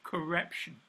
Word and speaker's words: correption: And this is called correption. Sounds like corruption, but correction.